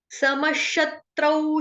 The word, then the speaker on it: समशत्रौ: समश स पूरा म पूरा सम सम नहीं बोलेंगे, समश नहीं बोलेंगे, क्या बोलेंगे? समश समश म पूरा स पूरा। श शलगम वाला या शबरी वाला है जो कि आधा है। क्यों विसर्ग का उच्चारण में श से क्यों किया? क्योंकि आगे जो शब्द हो रहा है वो शत्रु मतलब कि श से स्टार्ट हो रहा है, इसलिए शत्रु।